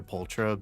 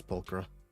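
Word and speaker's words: Pulchra: I was always calling her Pultra, but yeah, I guess they're pronouncing it as Pulcra.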